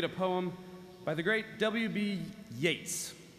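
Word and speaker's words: Yeats: poem by the great WB Yates which is actually pronounced yeets a lot of people don't know that thanks for the heads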